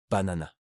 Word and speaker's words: banana: Banana. L'accent est mis sur la deuxième syllabe na na et les agrumes.